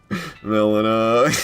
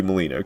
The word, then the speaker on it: Melina: Melina. Exactly. Why is that the pronunciation? Why is that the pronunciation? Like 100% should be Molina.